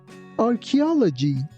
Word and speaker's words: archaeology: Here again ch doesn't sound like ch. It sounds like c. That's why we say archaeology.